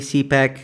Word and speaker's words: CPAC: Let's start with CPAC. Am I pronouncing it correctly? CPAC.